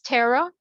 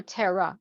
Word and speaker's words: Terra: it as t-e-r-a but it's the same it's Tara or Tara like the the pronunciation is usually supposed to be Tara t-e-r-r-a